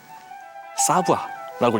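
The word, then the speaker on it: savoir: 저 읽으면은 사부아라고 읽으면 돼요.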